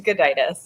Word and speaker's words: Gudaitis: Please educate us on how to pronounce that. It is Gudaitis, yeah.